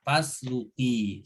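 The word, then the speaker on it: فاسلكي: lam itu berharokat dhammah, maka alifnya kalau dibacanya terpisah dari fa itu usluki dhammah gitu ya. Tapi kalau disambung dengan fa, ini kan fa nyambung ke alif, maka disukunkan saja fasluki seperti itu.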